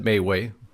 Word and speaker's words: MeWe: If you haven't joined us at Mayway or MeWe, depending on how you want to pronounce it, we're going to ask that you do that.